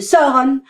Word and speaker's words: Sauron: Ainsi, je conçois que l'on puisse parler de Sauron, mais pas de son.